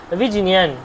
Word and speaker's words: বিজ্ঞান: বিজ্ঞান, আমরা যদি বিজ্ঞান বলি, কিন্তু বিজ্ঞানটা সঠিক উচ্চারণ নয়, ভিজিনিয়ান, ভিজিনিয়ান, আসলে উচ্চারণটা হচ্ছে ভিজিনিয়ান।